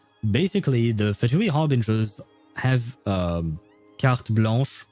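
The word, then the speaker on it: carte blanche: the fatoui harbingers have kart blanch I I struggle to pronounce that with the English accent car blanch I guess. Well, it's French KB blah.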